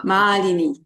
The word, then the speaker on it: Malini: Malini. It's a long A and short I. So Malini. Malini.